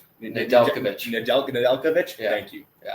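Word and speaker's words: Nedeljkovic: good goalie year before that and again my pronunciation Alex Nijekovich Nadel Nadelovic thank you exactly exactly right like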